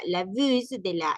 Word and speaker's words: bus: Bus, sí se pronuncia la S. Acá no vamos a decir bu. Aquí no aplica aquello de las palabras de, de que de que no se pronuncia la S en este caso, porque no estamos hablando de un verbo, ni de un adjetivo, ni es un nombre en plural, sino que estamos hablando